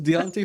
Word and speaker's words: Deonte: someone will get hurt I thought it was Don like Don want Fanta what it's Deonte it's simply not deont all right well all